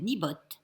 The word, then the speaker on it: Niimbot: Donc, je me suis acheté cette petite imprimante à étiquette qui s'appelle Nibot. Nibot, ça s'écrit N2IMBOT.